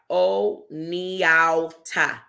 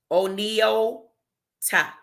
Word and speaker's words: Oneonta: The word, and she breaks it down, Oneonta. So the N is silent. Oneonta.